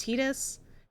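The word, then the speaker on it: Tidus: So I am going to say his name is Tetus. That is also what the voice actor said. It will be Tetus. On this channel it is Tetus.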